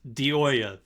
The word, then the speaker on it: DiIoia: have made impact, and the leader is DiIoia, right? Did I say it right? It's DiIoia.